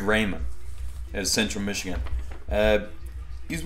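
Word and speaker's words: Raimann: But I'm saying his name wrong intentionally, just yeah, just so we're all on the same page. Yeah, it's actually Bernard Raymond out of Central Michigan.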